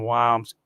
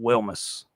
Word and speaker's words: Wilmis: It's not Braden WS, it's Braden Wilmis.